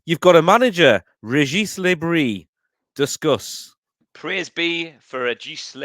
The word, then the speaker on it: Le Bris: Anth, you've got a manager, Regis Bris. Discuss. Praise be for Regis Bris, because it's been a while, hasn't it? And yes, you do pronounce the S, so your dad will be proud of you.